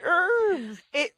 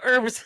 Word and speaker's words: herbs: It's not herbs. Have you heard the KFC commercial with 11 special herbs and spices? No, it says herbs. They do not pronounce the H. It's a silent H.